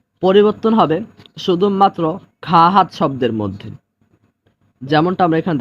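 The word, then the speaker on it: خواهد: উর্দুর ক্ষেত্রে নিয়ম হলো ওয়াওর উচ্চারণ হবে না, বরং শুধু আলিফের উচ্চারণ হবে।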